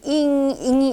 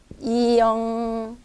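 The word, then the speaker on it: 英语: 근데 이 잉위 발음이 또 이게 제가 배울 때는 잉이 이렇게 배웠어요. 이렇게 잉위. 그래서 저도 잉이 입에 먼저 나오는데 요새는 잉은 아니에요. 요새는 이거 잉 발음하면 안 돼요. 이영. 근데 이 발음이 좀 빨리 하시면 돼요. 이영. 그러니까 잉은 하지 마시고 잉 이렇게는 하지 마요. 여러분도 한번 해보세요.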